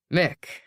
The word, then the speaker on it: Mick: Mick rhymes with Rick, he says.